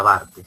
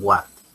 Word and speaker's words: BARTEG: Por cierto, se pronuncia BARTEG. Hay algunos que dicen WARTEG. Es BARTEG, ¿de acuerdo?